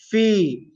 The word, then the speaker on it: في: Then comes the word fi. Fa is pronounced using the lips, as we mentioned, and then ya sakin, which is a mad letter for 2 harakat long.